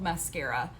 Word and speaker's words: Maskcara: just get into it so the company is called mascara and so it's spelled m-a-s-k-c-a-r-a um and now i can't